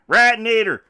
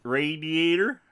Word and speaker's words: radiator: Radnator. I had that must be a Texan thing. Radnator. No, we actually say it correctly. Radiator.